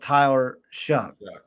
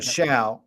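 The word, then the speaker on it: Tyler Shough: his name is pronounced Tyler shuck and I've been saying sha and and I guess that's wrong but it literally looks like Sha but shuck Tyler shuck out of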